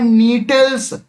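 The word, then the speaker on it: Gnetales: ये पाया जाता है नीटल्स। जी यहां पास साइलेंट है तो नीटल्स ऑर्डर में पाया जाता है।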